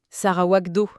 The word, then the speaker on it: Sarawak Do: Attention, on prononce bien Do. Sarawak Do, intrigant comme nom.